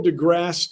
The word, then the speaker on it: deGrasse: so first of all it's neil degrasse tyson people try to add syllables but in french you